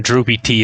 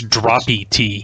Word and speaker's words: Droppy T: And actually, it's not even Droopy T, it's Droppy T.